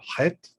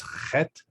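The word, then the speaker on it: חית: Another one is the character het, which Israelis pronounce as chet. It's in the throat, like in German, ch, rather than ha, like in Arabic.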